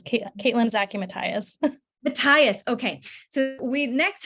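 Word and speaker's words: Zaki-Mathias: ask Caitlin is that the print the correct pronunciation of your name very close yeah it's Caitlyn Zachy Mathias Matthias okay so we next have Dr Caitlin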